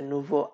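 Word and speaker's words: nous: এটাও, এখানেও আপনার সর্বশেষ এস এটা উচ্চারণ করা হয় না।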